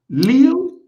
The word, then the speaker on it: Lille: Lille is L-I-L-L-E. Lille. Is that not how to pronounce it?